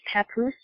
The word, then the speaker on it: Papoose: So his name is pronounced Papoose? Yes. You know what that sounds like? You know there's a place in Oregon called Scappoose.